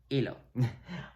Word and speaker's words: hilo: Notice there's this H here that is always silent, which is why I crossed it out. So yeah, you don't pronounce it. You never do. Don't ask me why. So it's always just, it disappears. It's a Houdini. It's just not there.